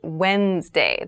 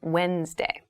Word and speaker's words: Wednesday: the week but keep in mind this is pronounced wednesday there's a d there but we don't say wednesday we say wednesday wednesday the 18th wednesday the 18th wednesday the